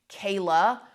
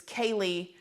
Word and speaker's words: Kaylee: was very disrespectful that the judge got Kaylee's name wrong. The judge did call Kaylee Kayla, which I was even surprised to hear, especially since this is such a well-known case.